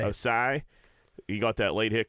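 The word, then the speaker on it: Ossai: I felt terrible for the Joseph Oasis. Is that No, how you say it? Osai. Osai.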